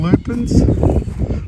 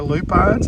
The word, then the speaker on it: lupins: This is some lupins, or lupines, however you want to pronounce it, that my sister and I have gotten started.